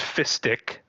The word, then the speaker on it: fistic: I I No, that that's how you pronounce it. That's fistic. Okay. It's fist with an ic.